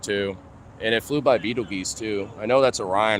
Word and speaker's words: Betelgeuse: If you actually, like, pronounce it correctly, it's Betelgeuse.